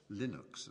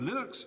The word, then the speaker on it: Linux: name likeness it was named as Linux or Linux or some people pronounce it and Linux is the kernel that runs within Ganu and